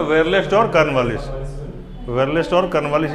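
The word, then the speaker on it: Verelst: Actually वेरे नहीं है, वेरलेस्ट है ये। इसका स्पेलिंग होता है WERRLEST ऐसे।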